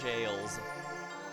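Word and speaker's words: gaol: You could probably post reviews on the on the prison and jails balls. No, it's the No, G A O L is still pronounced jail if you're saying it right.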